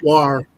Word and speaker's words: Ware: And I'm sorry for getting your name wrong, Lamont and Rita. It's okay. Ware.